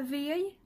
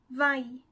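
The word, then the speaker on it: វាយ: fois vaï vaï là c'est encore une exception de prononciation de lecture on dit pas veille mais vas y vas y qui signifie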